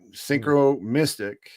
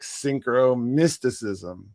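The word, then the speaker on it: synchromysticism: Well, I prefer like I the accent is on the mystic, right? Synchro mystic, right? That's the kind of like the annunciation. It's like synchro mysticism.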